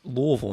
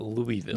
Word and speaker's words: Louisville: how that works like like it's Louisville not Louisville yeah if you call it